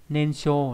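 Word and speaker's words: 燃焼: Âm onyomi là sho trong từ nensho là nhiên thiêu nghĩa là đốt cháy.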